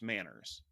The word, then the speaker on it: MANRS: There's a group that's been formed called the Mutually Agreed Norms for Routing Security, MANRS, which means this group really wanted their name to be pronounced Manners.